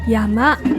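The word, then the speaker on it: 車山: ですねこれは犬山では山と言います車山と書いて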